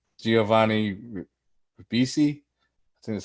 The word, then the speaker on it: Ribisi: Also starred, I can't say this guy's last name, Giovanni Ribisi.